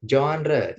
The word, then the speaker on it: genre: Ini tulisannya genre ya, tapi bacanya genre gitu. Coba genre. Genre. Re ya, genre.